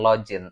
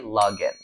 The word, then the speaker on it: login: penggunaannya ini bukan login cara bacanya bukan login tapi login login login tetap dibaca huruf g bukan huruf j yang kedua kata ini